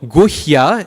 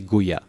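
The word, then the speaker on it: गुह्य: So guhya, the H has to be pronounced. Guhya. Guhya. Okay? Guhya. So the H is there. Otherwise it would just be guya.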